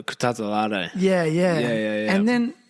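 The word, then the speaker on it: Kutateladze: Kutatalade.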